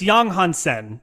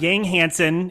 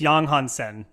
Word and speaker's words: Yang Hansen: It's Yang Hansen. That's how you should pronounce it. It's not Yang Hansen. It's Yang Hansen.